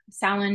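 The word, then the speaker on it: Samhain: us thank you Stalin is a Irish word Salin is spelled s-a-m-h-a-i-n it is an Irish word and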